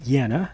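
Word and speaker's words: Jannah: Here's Jana, or some would pronounce it Yana.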